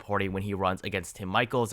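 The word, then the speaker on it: Tim Michels: I mean, this would be a major win for the Democratic Party when he runs against Tim Michaels. I've been told that is the pronunciation.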